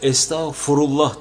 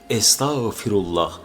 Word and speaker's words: Estağfirullah: Mesela estağfurullah derler mesela bazıları. Halbisi o estağfurullah değil. U değil i olacak. Estağfirullah. Estağf değil fi firullah.